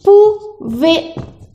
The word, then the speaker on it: pouvez: Y la pronunciación es pouvons, con sonido nasal, y aquí pouvez.